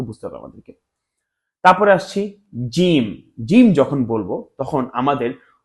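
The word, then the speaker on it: ج: তারপরে আসছি জিম।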